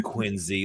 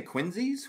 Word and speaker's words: Quincy: He's probably from Quincy, like a little motherfucker.